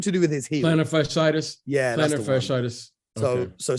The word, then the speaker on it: plantar fasciitis: And then today he's come out and talked about his plantar fasciitis. I don't know how to pronounce it. Something to do with his heel. Plantar fasciitis.